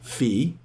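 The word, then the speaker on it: Fiee: you come to this moment where you're like fee and phi and it's spelled f-i-e-e pronounced fee and phi f i g h like psi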